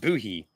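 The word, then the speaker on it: Bohea: Buhi, pronounced Buhi.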